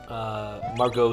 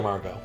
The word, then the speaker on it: Margot: Margot, excellent. It's one of those French word things. I just expect the T to not be pronounced.